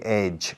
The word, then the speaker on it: edge: Se pronuncia edge, como una che pura y dura al final.